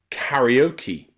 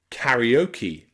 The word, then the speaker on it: karaoke: So we put the E at the end as a E sound, okay? Practice again, karaoke, karaoke, and karate, karate.